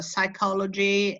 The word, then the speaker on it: psychology: The P is silent, so you say psychiatrists or psychiatry or psychology, etc.